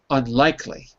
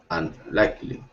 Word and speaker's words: unlikely: It's the second. Yes. Unlikely. Unlikely. Second syllable. So the rule here, it's not a rule. One pattern is that when you add a prefix, right, it's not that it, well, in this case, it stays on the same syllable.